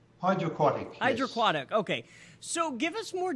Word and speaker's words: HydraQuatic: little bit more how do you say it's hide your aquatic hydroquinone hydroquatic okay so give us more details well austin